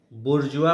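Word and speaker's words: bourgeois: जन्म दिया ब्रिटेन में जिसको कहा गया बुर्जुआ बुर्जुआ प्रोनाउंस करते हैं है ना उसको कहा गया मिडिल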